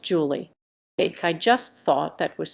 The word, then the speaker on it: July: July pronounced Julie.